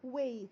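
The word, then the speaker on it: weight: تخسر تخسر وزن لوز ويت طب الويت ازاي بننطقها مش بننطق الجي والاتش يبقى يخسر وزن لوز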